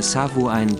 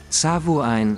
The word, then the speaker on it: Samhain: Das gälisch ausgesprochene Samhain wird Samhain geschrieben.